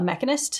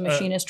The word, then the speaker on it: mechanist: gameplay we do meet a mechanist yes is how it's pronounced wasn't too sure if it was a machinist or not it's a mechanist yeah and it is